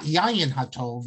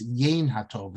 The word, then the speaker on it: Yain HaTov: It's often mispronounced as, I don't know if you're seeing it correctly, I'm seeing it reversed, but it's not Yayin HaTov, it's Yain HaTov.